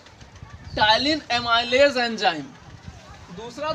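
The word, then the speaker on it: ptyalin: से जाना जाता है यह आपका पी जो है वो साइलेंट हो जाएगा टाइलिन एंजाइम टाइलिन एमाइज एंजाइम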